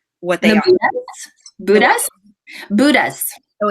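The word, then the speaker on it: Bhutas: How do you pronounce what they are? Buddhas.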